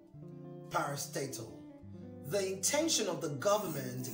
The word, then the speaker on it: parastatal: some political power parastatal i've heard the word pronounced as parastatal no it's parastatal parastatal the intention of the government is for all